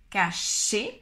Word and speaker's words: cacher: Cacher, le premier, cacher, c'est le son ch, cacher, et le deuxième, casser, comme un S en espagnol, casser.